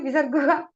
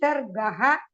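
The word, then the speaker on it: विसर्गः: You cannot say Visarga. It has to be Visargaha, Visargaha, Visargehe, Visargoho, something like that. But you cannot have Visarguha.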